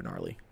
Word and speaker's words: gnarly: Super gnarly. Gnarly is spelled with a G. Yeah, it is. G-N-A. G-N-A. Gnarly.